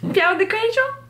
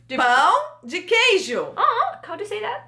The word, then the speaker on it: pão de queijo: Peão de queijo. Yeah. Peão de queijo. Pão de queijo.